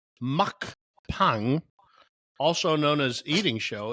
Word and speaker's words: mukbang: is an eing show a mukbang pronounced as Muk Pang also known as eating